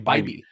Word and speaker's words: Bibee: It's actually Bibee. I always mispronounce it. I think Mike Bibee, Team Dime. Let's go. It looks like a Bibee. I did Bibee forever until I was corrected that it's Bibee.